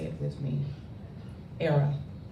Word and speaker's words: Airea: say it with me era rhymes with Sarah Sarah from the Latin